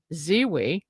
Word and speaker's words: Zewe: And our first guest is Fred Zewe. Did I pronounce that right, Fred?